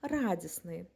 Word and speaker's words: радісний: СН та сели відповідно наприклад прикметником від слова радість має бути радісний але погодьтесь вимовити це складно і незручно тому літера Т випадає і виходить слово радісний так само і словом